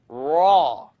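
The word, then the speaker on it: ر: Raw. The issue here is I don't want you to O your mouth. I'd rather you not do this. Raw. Don't use your lips to pronounce raw.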